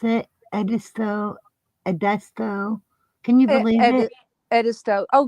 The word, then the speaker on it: Edisto: You mean where she corrected how you pronounce it? Edisto.